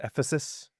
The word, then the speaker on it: Ephesus: It's It's pronounced Ephesus. Ephesus.